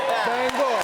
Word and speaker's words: Bangor: There's a certain sensitivity about how you pronounce the name of this city. Yeah. It's Bangor. All right. Bangor. All right. All my life banger.